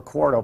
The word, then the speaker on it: Quarto: Quarto is spelled Q-U-A-R-T-O. Quarto, like Quarto milk.